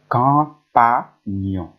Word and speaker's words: campagne: As a quand, quand, co plus un, quand, po plus a, pas, nion plus I, nion. I is silent. Campagne, campagne, campagne.